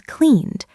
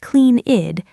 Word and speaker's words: cleaned: So the past is cleaned, not clean-id, just cleaned.